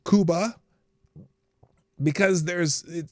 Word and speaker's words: Cuba: It's pronounced Cuba, you morons. And I'm like, well, yeah, in Spanish it's pronounced Cuba.